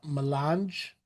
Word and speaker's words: Melange: How is that pronounced? Melange?